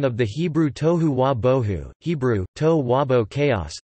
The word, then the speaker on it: bohu: Bohu has no known meaning and was apparently coined to rhyme with and reinforce tohu. The phrase appears also in